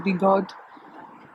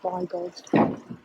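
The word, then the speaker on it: Bigod: the be God family I hope I'm saying be God it's it's spelled b-i-g-o-d which to me I would say by God um the Earl of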